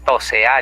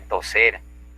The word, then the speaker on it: toser: Cuando decimos tosear en vez de toser, también es barbarismo.